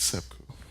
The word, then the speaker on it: seppuku: because I feel like my brain cells commit seppuku out of shame every time I visit his Twitter. Isn't it just seppuku? Isn't that just seppuku? Not seppuku? I don't speak Japanese, so I don't know. It's seppuku.